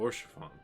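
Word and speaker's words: Haurchefant: Oh, Orchefon. That's how it's pronounced.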